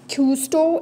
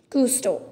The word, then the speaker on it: Cousteau: yeah custo is yeah so it's jack and custo is the correct pronunciation kusto okay so it's uh jack if cousteau okay jack is custo from june 1910 to june 1917 in 1997.